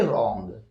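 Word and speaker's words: wrong: अगला वर्ड है रंग रंग में दोस्तों डब्लू के बाद फिर आर आ रहा है तो इसलिए हम लोग डब्लू को उच्चारण नहीं करेंगे हम पढ़ेंगे रंग यहां पर भी यही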